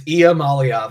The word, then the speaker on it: Iamaleava: So it starts with an E. It's almost like, well, no, it says I-A. Iamaleava. Did I get it? It's Iamaleava.